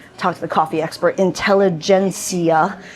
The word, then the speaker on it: Intelligentsia: But this is the free coffee, and they're serving, and I talked to the coffee expert, Intelligentsia coffee is how you pronounce it, ish.